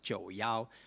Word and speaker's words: 91: And another way to pronounce it, 91, we call it 91, which is similar the pronunciation of 就要.